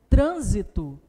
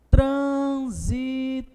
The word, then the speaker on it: trânsito: a palavra ainda está que é trânsito trânsito perfeito trissílaba e a palavra é proparoxítona perceba que o acento recai sobre a última app no antepenúltima sílaba e na letra é